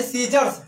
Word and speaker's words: scissors: अब यहां पर सी का कोई उच्चारण नहीं है।